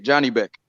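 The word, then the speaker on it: Janibek: j a n i b e c k Johnny Beck yeah yeah that's how you spell it yeah yeah HJ moving him fast man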